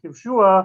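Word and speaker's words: כִבְשֻׁהָ: Kivshua, that's how it's pronounced, but it's written kivsha, right?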